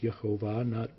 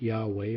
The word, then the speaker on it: Yehovah: So he understood that from the pronunciations in these ancient texts that the name of the Almighty should be pronounced Yehovah, not Yahweh or some other Yah format.